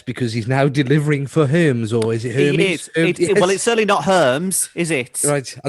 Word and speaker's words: Hermes: Yeah, not Hermes, like germs, in all.